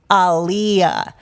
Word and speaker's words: Aaliyah: In 2000, Aaliyah appeared on The Late Late Show, and she kindly corrected Craig Kilborn, explaining that her name is pronounced Aaliyah, like Muhammad Ali.